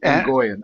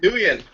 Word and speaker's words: Nguyen: And as well, I would definitely recommend the interview with Andrea KGB Lee and Andy Nguyen. I don't know if I'm pronouncing her name right. Nguyen.